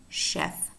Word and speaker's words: chef: So they are spelled CH, but remember that some words, a small number, but important to know, are not pronounced ch, but sh. And these words are exactly words that exemplify that exception, namely chef, Chevrolet, and Chicago, pronounced sh.